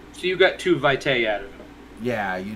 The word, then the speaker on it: vitae: a glossary section with pronunciation and it is pronounced vitae according to uh the vampire book yes and